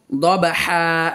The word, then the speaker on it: ضبحا: দবহা, এটিকে আমরা বানান করব দবা যাবার দব, হা আলিফ দিয়ে যাবার হান, দবহান। তো এখন আমরা ওয়াকফ করব, এই জন্য আমরা এটিকে মদ্দি এওয়াজ হিসেবে পড়ব।